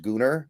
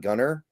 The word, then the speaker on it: Gunnar: And real quick to the funny people in the comments, it is pronounced Gunnar. It's not Gunner because it's spelled with an A.